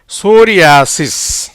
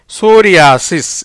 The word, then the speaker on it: psoriasis: ஏன்னா பீக்கு உச்சரிப்பு இல்லை. எஸ்ஓ வந்து சோ, ரீக்கு வந்து ஆர்ஐ வந்து ரீ, ஆக்கு ஆதான், ஏக்கு ஆதான், எஸ்ஐ வந்து சி, எஸ்ஸுக்கு வந்து இஸ். எப்படி வருது? சோரியாசிஸ். எப்படி வருது? சோரியாசிஸ் என்ற உச்சரிப்பில் வருகிறது.